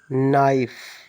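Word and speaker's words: knife: नाइफ case में silent होता है।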